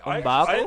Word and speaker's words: M'Baku: I know I just said that wrong, but M'Baku?